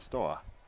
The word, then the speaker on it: Steaua: Went to Romania and played for Stowe. Is that how you pronounce it? I've always said Stoa.